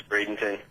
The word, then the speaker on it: Bradenton: It's Bradenton.